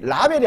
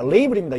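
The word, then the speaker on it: label: 그리고, 여러분, 라벨이 아닙니다. 레이블입니다. 영어 발음이 레이블.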